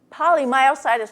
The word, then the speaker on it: polymyositis: in patients with polyus polymyositis myositis polymyositis I always put an extra syllable in it thank you from the